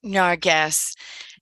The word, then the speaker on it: Nargis: My name is Nargis, pronounced Narges, and name of my chapter is My Journey of Transformation from Worthless to Worthy.